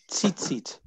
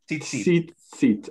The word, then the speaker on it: tzitzit: And how do you pronounce that last part, Leonard? Tzitzit. Tzitzit, okay.